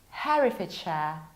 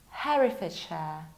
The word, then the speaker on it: Herefordshire: So here, we will not pronounce this one like hair, but like Harry. This is Herefordshire, Herefordshire.